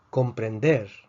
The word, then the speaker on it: comprender: Comprender, comprender. Comprender es una palabra aguda. La fuerza está en la última sílaba.